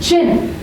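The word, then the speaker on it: Qin: How would you pronounce this in English? Zing. Then, Chin.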